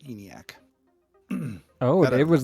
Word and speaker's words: ENIAC: I do know it's pronounced ENIAC.